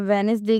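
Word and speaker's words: Wednesday: अ इसी तरह वेडनेसडे के अंदर जो है वो अ इसके अंदर भी हमारे पास जो सा डी है वो एन से पहले है। तो हमने यहां भी इसे साइलेंट कर दिया।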